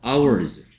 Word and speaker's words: hours: 그 다음에 얘는 H가 소리 안 나. 그래서 hours. Okay, 그래서 yesterday.